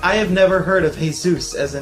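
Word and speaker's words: Jesús: I'll never forget, birthdays was when I learned that while a name can be spelled like Jesus, it's actually Jesus.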